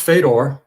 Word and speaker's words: Fedor: of it, and yeah, it's pronounced Fedor in my family. And then I grew up. We moved to Canada when I was 5, and it was pronounced Fedor by my teachers and my friends all the way through adulthood.